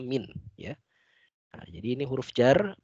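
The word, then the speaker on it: مِن: lagi yaitu huruf Jar min min min ini kalau dia bertemu dengan Al Islam maka dibacanya minat-minat agar mempermudah membacanya karena kalau mint saja sukun sulit membaca jadi minus minus B FT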